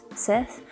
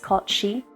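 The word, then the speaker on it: cait sìth: scottish legend of the cat seth or it's pronounced kochi it was a legend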